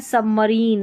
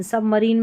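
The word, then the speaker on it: submarine: बस ये है सबमरीन। सबमरीन में आई का उच्चारण बड़ी ई की जैसे होता है।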